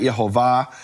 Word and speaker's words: Yehovah: He had to write Yehovah because that was known to the Jews as the true pronunciation of the name.